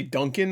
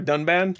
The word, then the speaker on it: Dunban: about mispronouncing but like he said a completely different name for a done band did he just say Duncan I think for dunban I'm bogglingly cool and